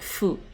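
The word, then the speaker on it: ふ: This is fu, pronounced more like fu. Like in the word Mount Fuji or something.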